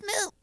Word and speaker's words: moop: What's moop? Well, moop stands for matter out of place. It's like trash, and it rhymes with scheiße.